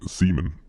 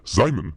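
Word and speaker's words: Simons: And I'm also going to give Seaman, that's not how it's pronounced, Simon, a chance here because he only grew 1 last season.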